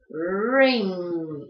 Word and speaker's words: ring: Y la última, anillo, que se pronuncia también con esta R especial. Rr, ring.